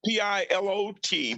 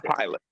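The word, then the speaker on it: Pilate: name is shelton palate it sounds like p-i-l-o-t but it's spelled p-i-l-l-a-t-e belton pilot pilot so felton is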